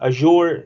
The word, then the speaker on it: Azure: So some people say Azure, some people say Azure or Azure, different pronunciations. But Azure is the right pronunciation, as Microsoft experts said that.